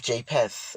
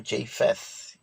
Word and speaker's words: Japheth: the children of of japeth or japheth whichever way you choose to pronounce it now let's go to